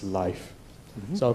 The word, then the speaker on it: Leif: I was told that the accurate pronunciation of his name is Leif.